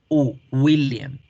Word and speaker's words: William: La W es una U.